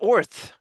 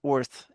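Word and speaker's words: Oerth: Like oith. Right? It's orth. Right. There's pronunciations in this book. Yeah. But they have orth, and I like orth. The E is, you don't hear it. So, orth.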